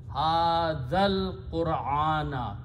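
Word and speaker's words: هذا القرآن: And when you read them together, you read hadhal. You don't pronounce this alif in the middle. Hadhal Qur'ana.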